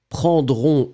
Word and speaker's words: prendront: form for the plural, prendront, O-N-T, are exactly the same. You write them differently, but you pronounce them exactly the same way.